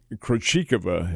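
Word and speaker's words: Krejčíková: must admit to you, the Krejcikova is how she pronounces her name.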